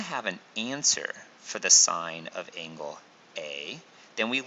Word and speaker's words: sine: trig ratio is called sine it is abbreviated as s i n lots of students want to pronounce this as sin but it is not pronounced sin it is still pronounced sign it's an abbreviation they